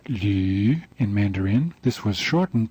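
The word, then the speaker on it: 呂: Here is the Chinese character for vertebrae, the bones of the spine, pronounced lu in Mandarin.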